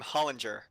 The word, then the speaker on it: Hollinger: You pronounce my last name Hollinger, like it's with a J almost.